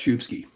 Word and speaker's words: Szubski: right the first time it's pronounced shubsky I was